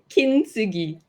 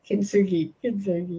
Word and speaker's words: Kintsugi: What's that pronounced as? Kintsugi. Kintsugi.